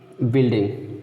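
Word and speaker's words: building: अब देखिए बिल्डिंग, बिल्डिंग में देखिए क्या है, जी के बाद यू नहीं आया है लेकिन तब भी यू इसमें साइलेंट है, तो इसलिए आप 2-4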